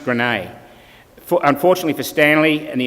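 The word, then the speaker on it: Graignes: this little village at it's spelt grain but pronounced grenade unfortunately for Stanley and the American paratroops he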